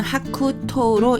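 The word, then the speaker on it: 白桃: 도화 복숭아꽃의 이야기하고 백도 흰색 복숭아를 이야기합니다 일본어 발음으로 도화는 토욱하고요 100도는 하쿠토로 있습니다 쓰는 순성하겠습니다 먼저 나무 목을 써 주시면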